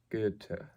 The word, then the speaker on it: Goethe: And the way I just did it was Goethe, which is, it may sound almost like there's an R there, but it's this strange German pronunciation of the OE.